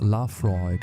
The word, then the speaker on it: Laphroaig: Number three, Laphroaig 10, pronounced "La Froyg" and comfortably the most